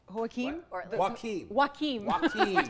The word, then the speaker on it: Joaquin: I mean, Joaquin? Joaquin. Hokum's Jokums. Phonetically, it's W-A-K-E-E-M.